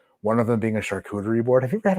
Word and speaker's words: charcuterie: No, that's pronounced charcuterie.